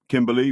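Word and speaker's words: Cimberly: Kimberly, with a C, but pronounced as with a K, was a charming, sweet-voiced,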